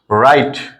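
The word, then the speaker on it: write: এইচ আছে এজন্য এখানে ডব্লিউ এর উচ্চারণটা হবে না ডব্লিউ রাইট দেখো আমরা যদি আর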